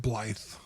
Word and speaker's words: Blythe: me please Blythe because it looks like blade but it's pronounced Blythe okay well I'm glad